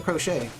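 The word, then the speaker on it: Croce: See, I didn't know how to pronounce it. It's really crochet.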